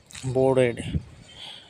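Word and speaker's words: boarded: आपको जब याद रह जाएगा, प्रैक्टिस हो जाएगा, फिर आपको आर को हाइड करना पड़ेगा। उसका एक्चुअल जो प्रोनाउंसिएशन है, उसका बोर्ड होता है। ठीक है? बोर्डेड the train for the first time.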